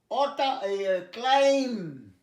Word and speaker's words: climb: আচ্ছা, MB মধ্যে beta উচ্চারণ হয় না, তাহলে কি হয় তোমরা পড়ো? CLIMB।